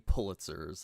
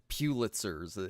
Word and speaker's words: Pulitzers: she's talking about winning Pulitzers or Pulitzers as some people pronounce it. I don't like that.